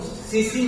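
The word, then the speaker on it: tsetse: इसका एक और जो सीसी मक्खी इसको हिंदी में इंग्लिश में लिखते हैं तो टीसीपीसी बोलते हैं। तो इसमें टीका होता है साइलेंट होता है।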